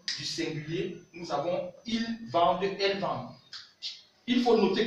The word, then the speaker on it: vendent: singulier, nous avons ils vendent, elles vendent. Il faut noter quelque chose en français, le ENT, comme je vous l'ai dit, n'est pas prononcé.